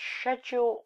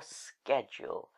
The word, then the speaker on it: schedule: i face it also is it pronounced schedule or schedule let me just check apparently it's scheduled in britain and schedule in america so i guess you